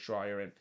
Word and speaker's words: Schreier: hear every time he mentioned Anders Schreier and mentioned it as Dreyer as well because really Dreyer, that's clearly not how you pronounce his name.